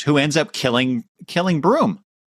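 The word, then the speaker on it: Bruttenholm: Hellboy visits his uh, human father figure, Trevor Broom, with, but it's spelled B R U T N H O LM, which, you know, in my mind is Brutinholm, but apparently it's it's pronounced broom.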